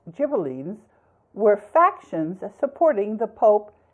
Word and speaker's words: Ghibellines: The Guelphs and Ghibellines, in English it's pronounced Guelphs, Ghibellines, were factions supporting the Pope and the Holy Roman Emperor, respectively, in central and northern Italy.